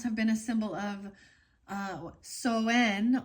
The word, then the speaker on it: Samhain: Apples have been a symbol of Soen or Samhain. I say it wrong every time.